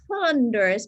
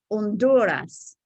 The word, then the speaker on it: Honduras: And pronunciation of countries, Guatemala, not Honduras, but Honduras, El Salvador, and we know Mexico, okay?